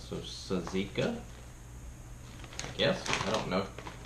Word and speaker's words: tzatziki: You said Mom says the T is silent, so tzatziki.